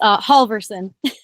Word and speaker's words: Halvorson: You're very close. Halvorson. Halvorson. Okay. Yes. It's those A's and those L's.